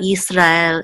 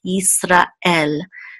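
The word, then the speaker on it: Yisrael: hope you want to make sure that there's a separation between an aura and L it's not you it's not Easter I'll it's easter l and there's because we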